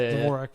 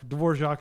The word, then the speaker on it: Dvorak: yes it is pronounced Dvorak dvorac is the composer Dvorak is the corrupted uh American version of the European name but uh sorry I